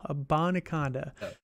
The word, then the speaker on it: Abanikanda: Israel Abanikanda. There we go. Abanikanda.